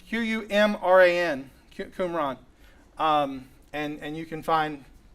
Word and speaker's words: Qumran: That is spelled Q-U. It's Q-U-M-R-A-N.